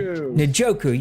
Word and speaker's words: Njoku: Njoku.